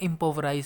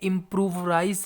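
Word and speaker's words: impoverish: सो इसको ध्यान से प्रोनाउंस करना। ये इम्प्रूवराइज नहीं है, ये इम्पोवराइज है। एक होता है इम्प्रूव और एक होता है इम्पोवर। ठीक है, ये इम्पोवराइज है, इम्प्रोवाइज नहीं है।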